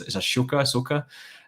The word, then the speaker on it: Ahsoka: My favorite Star Wars character though in the greater Star Wars universe, if I'm going to pronounce her name right, is Ahsoka.